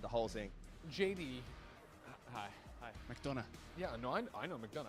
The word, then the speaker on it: McDonough: But like, JD McDonough.